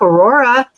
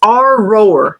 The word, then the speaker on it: Aurora: Aurora. And he said, "It's our roar.